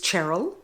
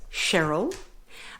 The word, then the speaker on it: Cheryl: my name is cherl a lot of people in Australia will pronounce that as Cheryl but I my name is um spelled c h e r y l and my parents made it quite clear that my name was cherl so I do introduce